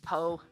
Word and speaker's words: Piao: Falco, we've been saying Piao wrong the whole time. It's actually Po. or poo.